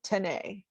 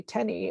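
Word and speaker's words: Tenney: the only place anybody my last name is tenny t-e-n-n-e-y that's this is the only place anybody has ever tried to pronounce it tenei and when and then i'm like oh it's actually tenny it rhymes with penny and i'm like but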